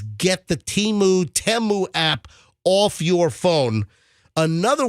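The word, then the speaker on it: Temu: Teu and you know, everyone wants to say Teimu, but you know, during the Super Bowl they pronounced it Teu, so I'm assuming that's the way you pronounce it.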